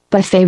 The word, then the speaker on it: buffet: tray to the buffet buffet rhymes with tray Buffet slap better knock